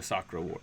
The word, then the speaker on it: Sakura Wars: Wars, Or Sakura Wars? Sakura Wars? Okay. but that's Is it because more like Sakura? maybe so the way I pronounce it is the way I